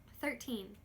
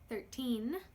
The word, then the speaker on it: thirteen: In thirteen, the T makes a very clear T sound.